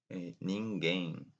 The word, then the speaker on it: ninguém: It's pronounced very similar, but in Portuguese there are nasal sounds. Ninguém, ninguém, which is really similar, but it means nobody.